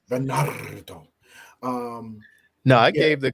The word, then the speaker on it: Bernardo: Yeah, but his real name is You ain't roll your R's though. Bernardo. Bernardo.